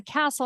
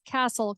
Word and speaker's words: Kastl: fairy tale castle, but my last name is Kastl, Kastl, that is often misspelled, but it's pronounced just like Castle.